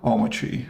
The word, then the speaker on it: Omarchy: I'm Omachi. Yeah. Omachi. Omachi.